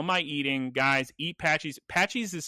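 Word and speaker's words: Patxi's: Patchies is spelled strangely.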